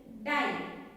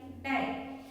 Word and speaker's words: die: Okay, in IE as a long I sound, say the sound of the letter I by its name. The E is silent.